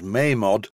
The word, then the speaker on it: Mamod: By the way, I'm going to refer to this as a Mamod steamroller. I know the real pronunciation is Mamod, and unless I'm completely wrong, any word in